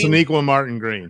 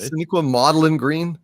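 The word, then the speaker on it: Sonequa Martin-Green: Shaniqua Martin Green. Shaniqua Maudlin Green, I think it was. But is that wrong? Did I say it wrong? It's more accurate. Shaniqua Maudlin Green.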